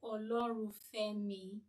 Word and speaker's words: Olorunfemi: Toby Samuel Olorufemi. I'm sorry if I did not call your name rightly. Don't worry, you pronounced it well. Thank you. Toby Olorunfemi.